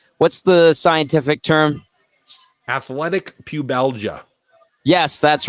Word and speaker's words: pubalgia: well for a guy who's dealing with athletic pubalgia is I did I say it right yep